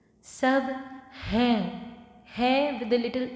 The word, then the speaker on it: सब: Sub would be easy because it's like just sub, sub, but sub in Hindi means everything. Sab hai with a little n sound at the end.